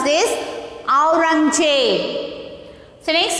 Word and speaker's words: Aurangzeb: So next you see A U R A N G Z E B. Aurangzeb. How to pronounce this? Aurangzeb.